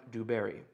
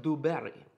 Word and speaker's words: Du Barry: and then barry b-a-r-r-y oh madame dewberry oh sorry laura is correcting my pronunciation madame du berry that better okay um